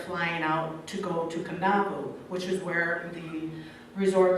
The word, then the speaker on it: Kadavu: And they do a lot of that with their, because Kadavu is actually Kandavu, not Kadavu.